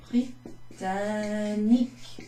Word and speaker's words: Britannique: and English all together You can also call that Britannique. Britannique. There's N-I-Q-U-E. Okay, Britannique.